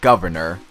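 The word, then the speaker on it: Guvnor: governor, not to be confused with the word governor. It's spelled G-U-V-N-O-R.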